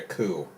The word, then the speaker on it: coup: I'm planning a coup. Nah. Seems shite if it were. Coup has a nice ring to it. That's French. It also rhymes with dew, which we don't get in the desert.